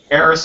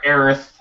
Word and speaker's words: Aerith: it's got bigger boobs eris has got a shorter skirt or sorry sorry aerith that translation error man